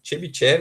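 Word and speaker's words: Чебышёв: Chebyshev, assim pronuncia, provavelmente seja russo, e o Bessel, tá?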